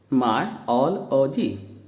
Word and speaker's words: myology: तो इसका आप किस तरह से प्रोनाउंस करेंगे? मायोलॉजी, मायोलॉजी, मायोलॉजी, मायोलॉजी।